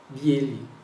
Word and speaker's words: белый: Ah, esse E, ele é pronunciado como se fosse um E, mas em muitos casos ele vai ter como se fosse um pequeno I, átomo, bem rapidinho antes do E, em alguns casos, né? Бели.